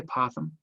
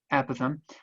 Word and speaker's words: apothem: So if S is the length of a side, A is the length of the apothem. I just did it, I said it wrong, apothem.